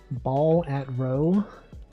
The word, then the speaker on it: Balatro: Game Awards having to pronounce Balatro. Balatro. Ball at row.